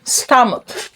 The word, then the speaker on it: stomach: The O makes the sound uh. Uh. Uh. So, you don't say stomach. You say stomach. Stomach. Money. Money. Comfort. Comfort. Onion.